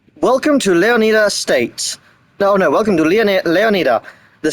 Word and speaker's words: Leonida: I'm pronouncing it how the Greeks pronounced it, because that word is Greek. Welcome to Leonida State.